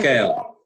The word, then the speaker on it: Skaill: Scale. Yeah, SKAILL. Scale House. Yeah. We were trying to figure out how to say it. Right. Well, scale in Norse was skal, which means a meeting hall.